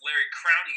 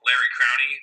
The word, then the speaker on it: Larry Crowne: So actually, it's actually pronounced Larry Crowney. Then, like Crowney sounds like a really terrible like bar owner somewhere like that just like is a sleazeball. Larry Crowney, the bar manager.